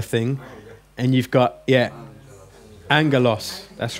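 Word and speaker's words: ἄγγελος: Angelos.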